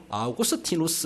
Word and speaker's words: 아우구스티누스: 어거스틴 하면은 영어식 발음이고, 아우구스티누스 이렇게 하면은 라틴식 발음이에요.